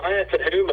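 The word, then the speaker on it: Maea Teuhema: Maya Tahuma is that's how you pronounce it.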